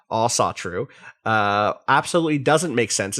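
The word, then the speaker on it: Ásatrú: the long email uh all satru pronounced all satru uh absolutely doesn't make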